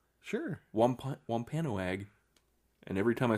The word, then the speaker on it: Wampanoag: Wampanoag. Wampa? It is. The first part of it is Wampa. Sure. Wampanoag.